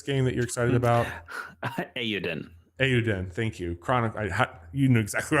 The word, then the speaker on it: Eiyuden: Eiyuden.